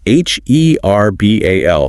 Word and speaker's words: herbal: If you are focusing on an American English accent, the H in herbal is usually completely silent.